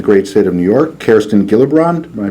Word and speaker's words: Kirsten Gillibrand: Prior to the EU imposing a label on Israeli products in November, Senator from the great state of New York, Kirsten Gillibrand, am I pronouncing that right?